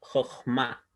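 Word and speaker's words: חכמה: En este caso, al no tener el puntito al medio, suena como una J. Por eso se pronuncia Jochma, con acentuación en la última sílaba, ¿cierto?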